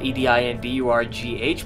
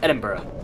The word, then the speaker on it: Edinburgh: Edinburgh is spelled E-D-I-N-B-U-R-G-H, but it's pronounced Edinburgh, even though it looks like it would be pronounced Edinburgh.